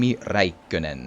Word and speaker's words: Räikkönen: world knows those names while we in Finland just you know indeed call him raen Kim reenen it's we have a bit of a more a different way to pronounce stuff but uh it's still